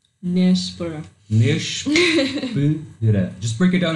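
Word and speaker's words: nêspera: Nespera. Nespera. Nespera. Nespera. Nespera. Just break it down in syllables.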